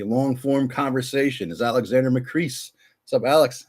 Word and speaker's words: Macris: form conversation is Alexander McCree. What's up, Alex? How you doing? Is it now? It's McCree, right? Am I saying this right? That's right. You got it right. Rhymes with peace, not with piss.